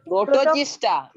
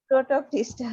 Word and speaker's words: Protoctista: You can- Oh, protogista. Protoctista. Yes, that's a C. So you have to pronounce that.